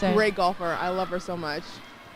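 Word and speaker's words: GolfHer: I I I think it's called uh golfer, but it's spelled G O L F H E R.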